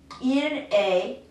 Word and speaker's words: est: It's spelled differently in French, but it's pronounced just the same way. It's got that AY sound to it. So, I don't have tu es, I don't have il est in French. I don't pronounce any of this. This ES is pronounced A.